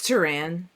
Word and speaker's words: Teran: It's Teran. What did I say? Teran. Well, that's how it's pronounced in his universe. Boy, Tearing it up.